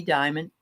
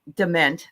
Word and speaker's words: Diment: being back with us today this is Debbie Diamond and um DeMent I always say your name wrong I'm sorry and um I want to